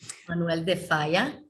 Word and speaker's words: Manuel de Falla: Manuel de Falla, yes.